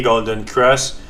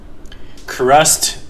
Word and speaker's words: golden cross: Il y a pas de T à fin. Avoir à fin, ça serait au passé. Mais en tout cas en anglais the lines have crust. On je dirais ça, je le prononcerai avec un t parce que ça sera au passé. Mais si je dis un golden cross, c'est juste Ross mais